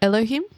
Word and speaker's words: Elohim: There's like two I've heard of two pronunciations of it. Uh, and yours is one of them.